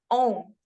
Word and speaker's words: Om: So when you speak Om, Om is actually amalgamation of three small letters, that is A, U, and Ma. So Om.